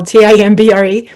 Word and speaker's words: timbre: the timbre the word looks like timbre spell t-i-m-b-r-e but it's pronounced timbre and it's basically just the quality